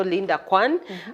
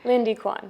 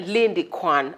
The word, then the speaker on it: Lindy Quann: who who your name is cuz I know Linda Quan but maybe the pronunciation or something but I think I'm on point isn't it Lindy Quan yeah Lindy Quan I like the Quan s like you know